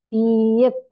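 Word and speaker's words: 비읍: Itu huruf B dalam bahasa Koreanya disebut piep. Piep. Iya, Piep. Tapi B-nya tuh nggak tebel kayak kita. Kayak ada anginnya ya. Piep.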